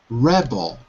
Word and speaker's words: rebel: Rebel. Rebel. Rebel. Rebel. Almost. But I can hear that your mouth is closed. It's more open, especially in the second syllable.